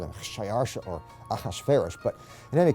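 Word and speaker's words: Xšayāršā: His Persian name, in Old Persian, which is his original native language, is Shayarsha. Now that was hard for the Jews to pronounce, so they said Ahasuerus.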